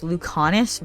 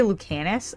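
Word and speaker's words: Lucanis: a side note that his name is actually pronounced luconis but I like to say lucanus I don't know it's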